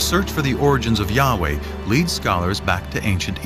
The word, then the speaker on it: Yahweh: So his title in a sense was God and his name was these four letters which in English would be Yhwh which we think were probably pronounced something like Yahweh.